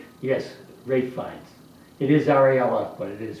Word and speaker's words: Ralph: It is R A L P H, but it is pronounced Ralph.